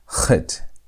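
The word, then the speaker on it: חית: And Chet is pronounced with almost like a CH sound, but it's not CH sound.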